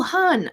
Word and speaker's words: Han: honored love it oh han oh i'm thrilled i'm thrilled i pronounced your name right like han solo perfect love it absolutely